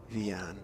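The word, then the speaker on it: Wiaan: Have to find out whether Rian, it is spelt with a W, but it may be pronounced with a V.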